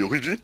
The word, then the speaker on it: RWBY: Alors c'est Ruby, ça s'écrit RWBY, Ok.